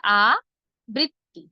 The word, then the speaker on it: আবৃত্তি: উচ্চারণটি হবে আবৃত্তি। আমি ভেঙ্গে লিখলাম দেখুন আ বৃত্তি আ বৃত্তি আ বৃত্তি আবৃত্তি আবৃত্তি আমি নিজে